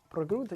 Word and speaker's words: pregunta: I thought you couldn't roll your R's. That wasn't rolling anything. You went No, I didn't. I said pregunta. Pregunta. Yeah, you rolled your R a little bit.